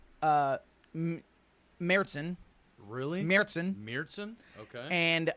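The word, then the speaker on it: Märzen: it's not actually pronounced Marsen okay it's pronounced uh meron really meron meron okay and uh that is German for March oh okay like the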